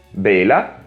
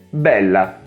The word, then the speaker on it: bella: Beh, con certe consonanti bisogna prolungare un po' il suono e accentare leggermente di più la vocale che la precede. Bela, bella. In questo caso le parole hanno due significati diversi.